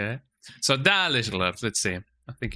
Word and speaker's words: Dalish: Oh, Dalish, that's how you pronounce it, Dalish.